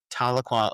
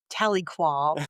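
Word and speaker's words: Tahlequah: T A H L E Qua H. I always call it Taliqua. I think that it's I mean I say Taloqua, I think it's Taloqua, but that doesn't fit in the mouth, if you know what I mean. emphasis on the wrong salab.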